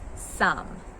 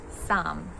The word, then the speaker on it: sam: We say am as sam. M is sam. In Croatian, it's pronounced some. It's not a Sam. It's not the name Sam. A is always a. It's not hey, it's ah.